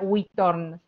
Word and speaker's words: Uithoorn: de algo así como que se llama Uithoorn, ¿no es cierto? Más o menos así se pronuncia.